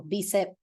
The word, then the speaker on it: bicep: It is not bi and it's not tri. That is never how an I is pronounced in Spanish. It's always E, bicep, tricep, quadricep.